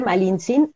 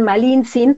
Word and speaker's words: Malintzin: Y bueno, realmente, incluso su nombre, Malintzin, es un nombre que le dan los indígenas.